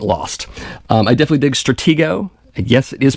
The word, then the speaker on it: Stratego: um i definitely dig stratego yes it is pronounced stratego just like the 60s 70s board game of the same name also darkest hour um